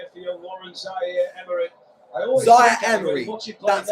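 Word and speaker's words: Zaïre-Emery: Zaire Emery, that's how you pronounce his name.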